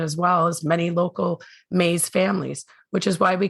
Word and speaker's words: Maas: And for those of you who knew Lisa after she was married, you will recognize our local pronunciation of her married name. The media has long pronounced her last name as Maas, and over the years,